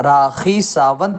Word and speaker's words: راکھی: رکھنا چاہیے۔ دوسری بات، آپ راکھی ساونت بولتے ہیں، وہ کھ ہے، خا نہیں ہے۔ آپ کو اپنا تلفظ